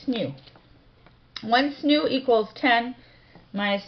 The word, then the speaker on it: SNU: The unit is the solar neutrino unit, or SNU, which we pronounce SNU.